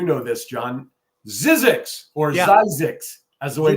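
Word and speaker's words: Zzyzx: exit and you know this John ZX or zix as the way it's actually pronounce I love that ZZ yzx I shared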